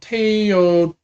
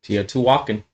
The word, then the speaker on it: Teotihuacan: version reprint of another very famous game called Teotihuacan, I think is how you pronounce that. Teotihuacan.